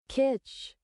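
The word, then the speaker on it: kitsch: Kitch. Kitch. It's literally just that. Kitch, why are you in slow-mo when you're saying it?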